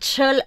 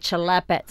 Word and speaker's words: Celepets: Celepets, not chel. Please don't call it celepets, okay? It's celepets. Celepets. It's like, you know, celebet.